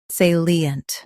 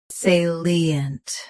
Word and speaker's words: salient: Today, we will learn how to pronounce the word shown on the screen. Salient.